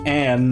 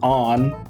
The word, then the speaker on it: Ann: okay noah i mean remember they they pronounce her on not and she says juicy pineapples chinsuko cookies you know her name should be ann not on just like in uh